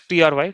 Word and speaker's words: Trie: So, if you look at here a try pronounced as tr y try.